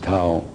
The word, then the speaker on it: Thao: T-H-I-O, Tao. That's her name. You can pronounce whatever you want, but I pronounce it Tao.